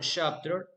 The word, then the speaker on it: chapter: In the word chapter, we make the stress on the first syllable. The first syllable, chap, will be pronounced louder than the last syllable, ter.